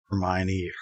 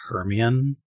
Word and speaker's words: Hermione: I pronounced Hermione Herian until the movies came out.